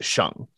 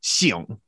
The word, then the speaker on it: 省: And it's also the character that means to save time or money when it's pronounced Sheng. But it can also be pronounced Xiong.